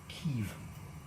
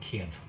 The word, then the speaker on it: Kyiv: Um, they they reverted to the Ukrainian pronunciation of their home city, Kev, or something very similar to it, but it's not Kiev.